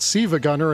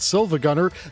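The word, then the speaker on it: SiIvaGunner: And if anyone who knows the channel is wondering why we're pronouncing it Siva Gunnner and not Silva Gunner, that L is a capital I. He is trolling you in his name.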